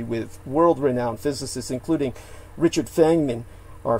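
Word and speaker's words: Feynman: world-renowned physicists including richard fengman or feniman uh depending on which dialect you pronounce it with but uh he definitely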